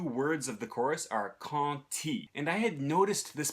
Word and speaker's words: quand: you have the word quand, which ends with a D, but when it's followed by a word that starts with I, it won't be pronounced as a D, it'll be pronounced as a T.